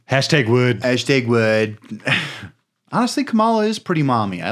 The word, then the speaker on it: Kamala: dumb and not fun it's pronounced comma you said shark racing at first it is pronounced Kamala uh I can't even say